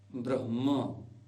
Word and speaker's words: ब्रह्मा: शमिल एक और है जो ह और म यानी आधा ह और म दोनों को मिलाकर के बनता है म म जिसके उदाहरण के लिए जैसे ब्रह्मा ब्रह्मा ब्रह्मा ब्रह ब्रह्मा ब्रह्म ब्रह ब्रह्मा आइए कुछ प्रचलित शब्दों को